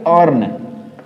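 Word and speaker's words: earn: तो क्या हो जाएगा, ये अर्न।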